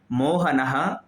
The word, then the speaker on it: मोहनः: वाक्य है मोहनः वदति, मोहन बोलता है। तो मोहनः में देखिए विसर्ग का प्रयोग है, तो उच्चारण कैसा हो रहा है? मोहनः, ना के बाद विसर्ग है तो उच्चारण होगा ह का, मोहनः वदति।